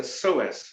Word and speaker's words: psoas: And there's a muscle in your pelvis called a psoas. It's spelled with a P.